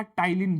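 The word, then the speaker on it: ptyalin: सेलवरी amylase बोलो या टाइलीन बोलो। पी टी वाई एल आई एन। इसमें पी साइलेंट रहा जा रहता है।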